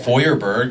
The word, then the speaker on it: Feuerberg: It's spelled Feuerberg. In German, it's pronounced Feuerberg, which means fire mountain.